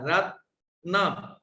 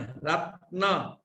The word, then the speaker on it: रत्न: रत्न त को हमने र में स्थित आ के साथ बोला है, रत्न, न बाद में, रत्न।